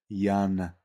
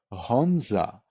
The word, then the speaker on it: Jan: But who will ever read it as Jan, which is the correct pronunciation, or Honza, which is how every Czech person would read Jan.